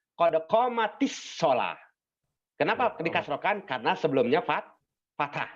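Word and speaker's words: قد قامت الصلاة: Qad qomat as-shalah. Ini asalnya, Pak, sebetulnya. Ya. Qad qomat as-shalah. Ini sukun. Dan ini juga sukun. Ya kan? Maka biar mudah, maka dibacanya jadi qad qomatis shalah.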